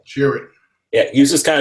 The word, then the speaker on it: Chirrut: How do you pronounce his name? Chirrut.